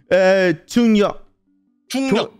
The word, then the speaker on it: Jungryeok: ¿Cómo se pronuncia tu nombre? Jungryeok. 중요. Junyo.